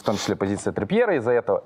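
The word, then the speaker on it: Trippier: в том числе позиция трипера из-за этого и вчера вот карта р не произносится триппьер он трипер - это другое Послушай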